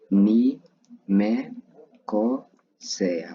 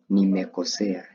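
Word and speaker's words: nimekosea: So, in Swahili you just say one word, which is ni me ko se a. Okay? Nimekosia.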